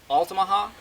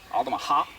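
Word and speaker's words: Altamaha: me with this pronunciation alamaha is that how people from there say it yeah I've heard it said like different ways alaha alaha alaha so it's on the last syllable alaha I've always heard it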